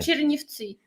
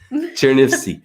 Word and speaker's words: Chernivtsi: Chernivtsi. Yeah, how do you say? Chernivtsi. Yeah, what she said. Chernivtsi.